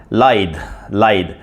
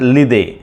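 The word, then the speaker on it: lithe: The fifth word is lied. L-I-T-H-E. lied. And some people pronounce it lide. No, lide is the wrong way of pronouncing this word. Lied is the correct way.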